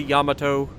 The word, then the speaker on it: Yamato: other Japanese battleship the Yamato or Yamato is I know it can be pronounced either way I'm I'm just used to Sadie Amato I know it's technically Yamato but yeah anyway we